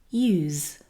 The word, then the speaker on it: use: This is a verb, and we're using the z sound in use.